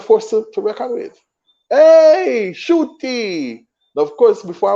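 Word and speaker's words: Ncuti: I was calling him Nkuti Gatwa. And Nkuti is from Kigali. He was born in Kigali, Rwanda. It is pronounced Shuti. So it is not Nkuti.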